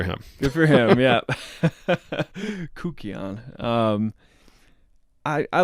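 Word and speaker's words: kykeon: I'm told the correct pronunciation is Kukion now. Kukion. I always went with Kikion.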